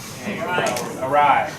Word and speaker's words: awry: When things start to go awry. There we go. So assessing risk and safety. Doesn't rhyme with Harry.